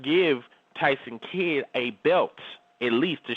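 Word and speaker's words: Tyson Kidd: in the back Prim example I was watching Jason kid to what's tyon that's it Jason k i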